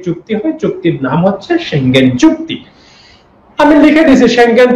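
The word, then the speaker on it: Schengen: আমি বলেছি যে এটাকে আমরা বলবো সেঙ্গেন, কারণ এটার উচ্চারণ সেঙ্গেনই।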